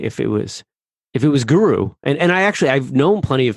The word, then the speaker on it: Guro: To be honest, it's not super fluid for me either, because I usually pronounce it more like guru, like G-U-R-U, even though it's spelled G-U-R-O.